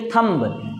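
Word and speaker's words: thumb: आपको कहते हैं थंब लेकिन करेक्ट प्रनंसीएशन उसकी होती है थंब यहां भी एम के बाद भी होता है बी आपका साइलेंट होता है एक जैसे बाबू क्या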